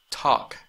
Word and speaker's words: talk: Talk, talk, talk. No es talk, talk. Ahí la L no se pronuncia.